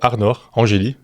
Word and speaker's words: Arnor Angeli: Aujourd'hui, j'ai le plaisir d'accueillir Arnor Angeli. Je le prononce bien ?